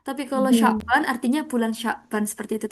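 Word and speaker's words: شعبان: Nah, teman-teman bacanya nggak boleh kebalik ya. Iya, kalau Sya'ban artinya bulan Sya'ban. Kalau Syaba'an artinya apa? Syaba'an. Ada 7. Lapar. kebalikannya lapar, kenyang ya. Kenyang. Ya. Jadi kalau Syaba'an artinya kenyang, tapi kalau Sya'ban artinya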